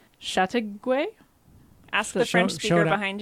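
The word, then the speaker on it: Châteauguay: living with her children in I came gonna pronounce this wrong Chateauguay ask the shrimp short behind you shot the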